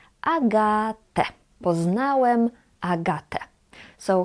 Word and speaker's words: Agatę: But you know already that we read en at the end as e. Agatę.